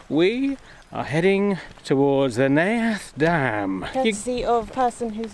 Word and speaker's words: Neath: Today I have not only looked it up, but I've written it down phonetically, so I know that it is Neath.